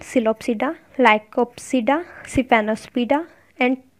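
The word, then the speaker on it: Psilopsida: इसकी classification, pteridophyte को हम कैसे क्लासिफाई करेंगे, इसके चार ग्रुप्स हैं, सिलोप्सिडा, P silent सिलोप्सिडा, लाइकोप्सिडा, सिफेनोस्पिडा एंड टेरोप्सिडा, hair P is also silent.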